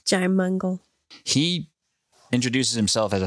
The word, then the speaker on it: Jaimungal: Strange podcast that just started existing called Theories of Everything with this dude, Kurt Jaimungal, that's how he pronounces his name. Jaimungal.